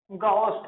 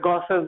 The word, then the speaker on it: Gauss: ठीक है, क्या, गॉस लॉ, गॉस law pronunciation बोलते हैं, बहुत से गॉस बोलते हैं, गॉसेस बोलते हैं, गाउस बोलते हैं। वैसे गॉस सबसे करेक्ट प्रोनाउंसिएशन है इसका।